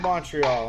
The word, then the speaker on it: Montreal: They all say all night they're going to say Montreal, not pronounce the T, and I fucking hate it.